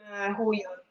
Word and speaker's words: Huion: La Vion, Vion, non so pronunciarlo, Vion. Non mi Ah, già ricordo il forse modello. Huion.